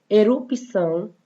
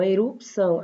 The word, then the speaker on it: erupção: Erupção, olha só, erupção. Aí aqui eu pronuncio mesmo, parece ter muito um I aí antes do cedilha, mas não tem, né?